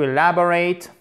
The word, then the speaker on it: elaborate: Alors, to elaborate, ici c'est un A court, guys, hein, OK? Elaborate, I court, accent tonique.